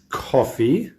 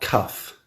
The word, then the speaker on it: cough: of this this is coffee right coffee and coff not cuff because cuff is this